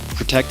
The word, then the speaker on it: Protekt: Protect is veteranowned and they make all of their products right here in the USA. And right now, Protect is offering you 30% off both flavors of their Rest formula.